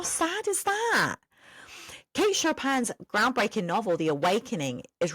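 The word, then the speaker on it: Chopin: Let's move on to Kate Shopan. Now, what did I learn about this amazing author? Firstly, I learned how to say her name correctly thanks to Google.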